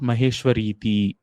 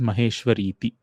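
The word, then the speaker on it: महेश्वरीति: It's not Maheshwariti. It is Maheshwariti. Iti is the word there.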